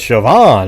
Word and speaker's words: Siobhan: it and everybody's like oh it's shoban oh yeah it's shoban you know it's like you know I don't think most people know that that's pronounced shoban okay so I was just